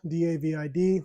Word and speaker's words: David: It's spelled D-A-V-I-D, so like David, but it's pronounced David.